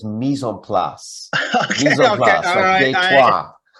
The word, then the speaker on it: mise en place: And since you're not far from Detroit, you need to get your French pronunciation right. It's mise en place.